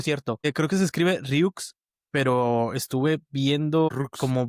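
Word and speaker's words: Rieux: Por cierto, creo que se escribe Ryux, pero estuve viendo Rux. como videos y lo pronuncian como Ryu. O sea, Ryu. no pronuncian, sí, no pronuncian la X.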